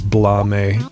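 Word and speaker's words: Blame!: a uh manga called blame or I think technically the correct way to to pronounce it is blame because it's Japanese but I think it's cooler to to say blame so that's what I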